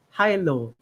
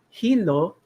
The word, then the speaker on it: HILO: going to use is high low so you want to pronounce it in the English way not in the Tagalog way nahilo for those of